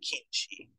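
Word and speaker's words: kinshi: Yes, it's pronounced kinchi. If you want to look it up later. Kinchi, K-I-N-S-H-I. Wait.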